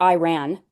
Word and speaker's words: Iran: Um, and it's Iran, not Iran, Yeah. which he continues to say. It's Iran. Like, pronounce it properly.